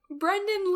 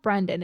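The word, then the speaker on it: Brynden: Also, it's not Brendan, it's Brendan. Oh, I thought it was Brendan. Yeah, it can be, but I think it's more commonly pronounced Brendan.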